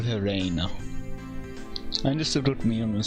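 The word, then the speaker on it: 礼奈: Reina. Okay. レイナか。 Reina instead of Rena. Okay.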